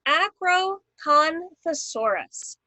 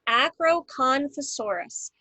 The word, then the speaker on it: Acrocanthosaurus: So we've got the Acrocanthosaurus, the Acrocanthosaurus. And you notice that the ACK is all in caps, and then the KAN is in caps, and then the SOR is in caps.